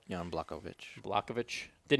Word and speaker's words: Blachowicz: How you pronounce his name? Jan Blachowicz.